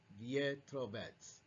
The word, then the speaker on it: Vetrovec: En su idioma natal, el checo, la letra E en su apellido se escribe con un símbolo llamado carón y se pronuncia Pietrovec.